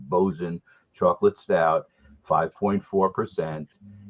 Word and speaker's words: Boatswain: joe's it's called bozen it looks like it's boatswain but it's pronounced bozen chocolate stout 5.4 percent